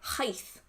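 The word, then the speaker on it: llaeth: Like, the word milk, is it written like L-L-A-E-T-H and it's pronounced like heith.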